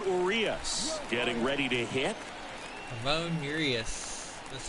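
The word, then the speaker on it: Ramón Urías: Ramon Urias.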